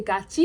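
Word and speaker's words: 같이: contains the sound e, the digut becomes pronounced as jiut, and the tigut becomes pronounced as chiut.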